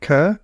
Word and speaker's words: Kerr Neilson: It's not every day that you hear someone who probably, like, for people that don't know, I pronounce it Kerr.